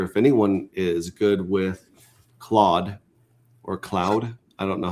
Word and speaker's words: Claude: Uh right now also I throw this out there if anyone is good with claude or cloud I don't know how it's pronounced the AI Claude um and